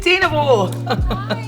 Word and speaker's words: Dynevor: talented British actress, Phoebe Dynevor. Did I say it correctly? I'm always yes, like Dynevor.